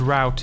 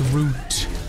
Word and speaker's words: route: Route, the word route as well. It's not route, it's root.